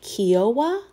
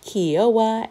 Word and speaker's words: Kiowa: I think it's pronounced Kiowa. It's spelled K-I-O-W-A.